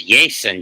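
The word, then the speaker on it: Jasson: I would pronounce it as Jason Dominguez because it's 2 S's.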